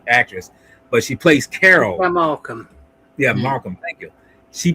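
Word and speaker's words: Kika Markham: person here, which is make sure I just pronounce her name. Keika Markham, which is played by that's the name of the actress, but she plays Carol. Markham.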